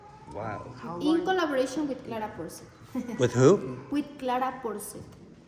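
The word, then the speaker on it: Porset: In collaboration with Clara Porcet. With who? With Clara Porcet. How do you spell that?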